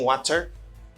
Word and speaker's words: water: Mais moun qui aux États-Unis, prononce T tant qu'on D rapide. Yo relé ça fast D ou bien de flat T en anglais. Donc, il dit water.